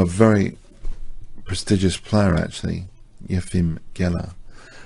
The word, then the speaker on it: Efim: I'll just play the pronunciation on chess games, Tom. Efim Geller. Efim Geller.